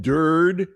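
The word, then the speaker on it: Durde: are, you know, Aiden Dur uh from the uh which rhymes with turd.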